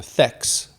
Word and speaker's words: THX: His wife calls him THX, almost like Tex, right?